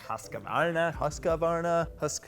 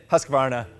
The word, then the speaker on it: Husqvarna: I mean, some folks are saying like Husqvarna. I mean, it's Husqvarna. I'm not gonna say it like that. There's not enough syllables. I'm saying Husqvarna, whether you guys like it or not.